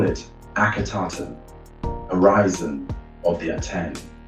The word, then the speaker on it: Akhenaten: The king carved it off his monuments and replaced it with a new one, Akhenaten. Effective for the Aten, 4 syllables, and the covenant was broken.